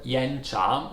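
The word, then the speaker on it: 岩茶: we have the word yen charm which means actually cliff T yen cha is pronounced with two rising tone yen job and it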